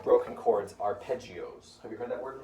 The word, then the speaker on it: arpeggio: But normally we call broken chords arpeggios. Have you heard that word before? Yes. It's spelled like this. A-P-A-R-G. I don't know. Arpeggio.